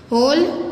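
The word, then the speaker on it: whole: होल, इसमें W silent है, तो ये होल यानी पूरा और ये होल यानी कि कोई होल होना.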